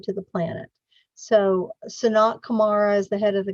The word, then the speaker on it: Kumara: And the second word is Kumara, K-U-M-A-R-A, Kumara. The Kumaras are spoken of